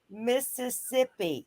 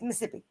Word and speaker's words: Mississippi: Lewisville here um but do not say Mississippi it's Mississippi is Mississippi Taurus corn ER what